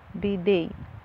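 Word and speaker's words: bidet: طبعا التي في الاخر دي مش بتتنطق، فبنطقها الجزء المقطع الاخير ده بنطقه زي كلمه دي، بي دي بي دي بي دي، دي يعني شطافه.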